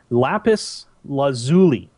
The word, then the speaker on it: lapis lazuli: Let me make sure I get this pronounced right. Trust me. It is lapis lazuli.